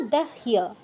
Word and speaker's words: দহ্য: অগ্নিনা দহ্য, হয়ের সাথে ইয় আছে, তাই হই আগে উচ্চারণ হবে।